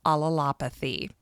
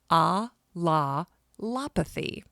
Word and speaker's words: allelopathy: Neil pioneered the study of allelopathy, and that is a very difficult word to pronounce, so take it slow. Allelopathy.